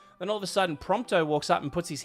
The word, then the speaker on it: Prompto: Is it Ponto? Am I saying it right? It's Pontto, right? I'm I'm Pronto. Prompto. I was saying Ponto.